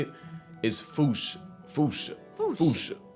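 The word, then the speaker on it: fossa: Foocha. Like foo with a performance anxiety uh at the end. Experts feel free to correct me, but apparently that is the closest to the OG Malagasi pronunciation.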